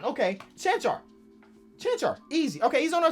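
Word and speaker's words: Čančar: Oh, that's easy. It's like a Pokemon. Okay. Chanchar.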